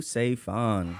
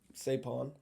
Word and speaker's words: Saephan: I think of it like because PH is like an F, right?